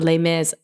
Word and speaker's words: Les Mis: way and the the Les Mis I should stop saying Les Miserables but like I do speak French so I do want to say it properly Les Mis because because I